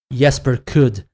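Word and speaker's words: Jesper Kyd: I think most of the works by according to Assassin's Creed Valhalla, this is the proper pronunciation, Jesper Kudd.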